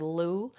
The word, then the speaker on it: Lugh: So, Lenaza is named after the god Louu. It's spelled L U G H, but the probably the best pronunciation we can get is Lou.